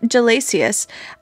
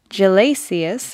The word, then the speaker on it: Gelasius: popedom until the late 400 CE when Pope Gelasius the first declared that only vile rabble participated in the festival and fought successfully to have it removed from Roman tradition.